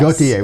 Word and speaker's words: Gautier: I pronounce it Gautier. Yes. Gautier.